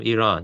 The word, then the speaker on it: Iran: I don't know the history of Iran well enough to make a good argument.